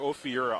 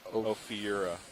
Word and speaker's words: Ophiura: the first recorded instance of watching Astro Ophiura alive.